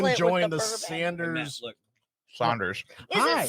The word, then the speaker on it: Saunders: It's Saunders. Saunders. Sanders. I grew up down there in the hood. It's It's spelled Saunders. Sanders. Right, but Saunders. it's Saunders. So there's not a over the A. There's no whatever that is.